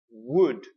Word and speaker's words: wood: syllable word here is wood wood now please notice the beginning of this word a lot of different countries and nationalities have problems with the W sound so please if you